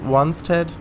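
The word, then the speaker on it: Wanstead: it yeah i know isn't it pronounced once ted instead of steed monster maybe but it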